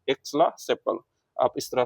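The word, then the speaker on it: Aix-la-Chapelle: ऑफ एक्सला एक्सला sepal, चैपल भी बोलते हैं, सेपल भी बोल सकते हैं, प्रोनाउंसिएशन फ्रेंच में अलग हो गई तो एक्स ला सेपल बोलेंगे, ए ला सेपल बोलेंगे, या आप बोल सकते हैं एक्स का चप्पल।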